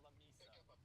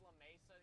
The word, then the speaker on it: La Mesa: Apparently it's pronounced La Misa.